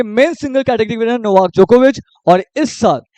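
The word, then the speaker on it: Djokovic: पढ़ेंगे नो वक य वाई नहीं होगा जे होगा यहां पे जोकोविच यहां पे डी साइलेंट होता है जे होगा जोकोविच पढ़ेंगे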